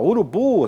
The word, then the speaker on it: urubu: A sílaba forte, ó, urubu, a sílaba forte é é a última sílaba.